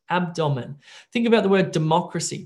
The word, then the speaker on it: abdomen: English test, and there's a medical word, abdomen, right? Your abdomen. But what do you say? What about if I said abdomen, abdomen? The computer's going to not get that because a part of pronunciation is also correct word stress, abdomen.